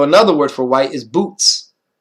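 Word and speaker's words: בוץ: arrayed in boots, and that's how it's said in Hebrew. The zadik at the end, the tz, boots, boots. You hear that sound? It's not boot, it's boots with the tz or ts, however you might say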